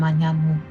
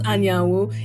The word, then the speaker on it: Anyanwu: I know how to pronounce Anyanwu. It's an Igbo name.